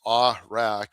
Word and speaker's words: Awrach: And yeah, last name pronounced Awrach, but you know, whatever whatever you like.